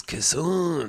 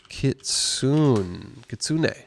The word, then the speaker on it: kitsune: How do you pronounce Kitsune? How to pronounce Kitsune? Kitsune. Oh, not slowed. Kitsune.